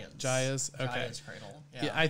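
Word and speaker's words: Gaea's: Is that how do you pronounce it? You pronounce it Gaia's.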